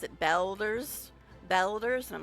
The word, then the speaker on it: Baldur's: But speaking of strange pronunciations of Baldur's Gate, because it did originally sound like he said Baldur's Gate, but I believe it's, what, Australian people that pronounce it Belders, and I'm like, it's a little strange, but okay.